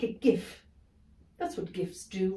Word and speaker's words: gif: and over like a gif that's what gifts do right they're endless yes mom though some people pronounce it jif thank you higgins